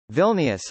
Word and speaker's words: Vilnius: Vilnius, Lithuanian pronunciation, VLNS, listen, see also other names, is